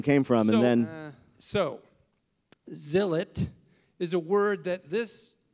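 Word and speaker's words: Zilot: is what is a xylot well it's not pronounced xylot Phil look at the cover of the book there's a pronunciation guide well look it's zilet that's what I thought and then he said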